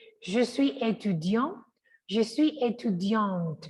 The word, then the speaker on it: étudiante: Mire que si es masculino, va la pronunciación hasta acá. Je suis étudiant, pero si es femenino, la T suena, no la E, la T.